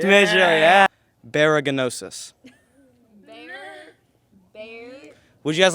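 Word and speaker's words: baragnosis: Sorry, it's spelled B-A-R-A-G-N-O-S-I-S. Baraganosis.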